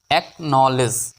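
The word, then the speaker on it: acknowledge: ডি টা উজ্জ্ব হবে ডি থাকবে কিন্তু উচ্চারণ হবে না এল ই ডি জি ই লেস অ্যাকনলেজ অর্থ হলো স্বীকার করা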